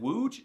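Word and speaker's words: Łódź: If you said wooge, you're correct. Congratulations.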